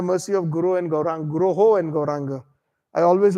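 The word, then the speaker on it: guroḥ: That is why in the Mangal Arti, we use the word Guruho. Vande Guruho Sri Charana Arvindam. It is not Vande Guru Sri Charana. Some of them mispronounce.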